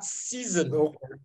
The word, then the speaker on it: season: They are season. Season, la saison. Reason, la raison. Not season, not reason. Reason. So you don't pronounce S-O-N, you pronounce it zun, zun, zun.